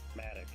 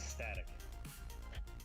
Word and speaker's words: Static: It's not Matic, it's Static.